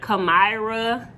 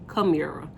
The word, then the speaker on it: Chimera: to say my name that normally be like kamyra camara no it's chimera okay anyway back into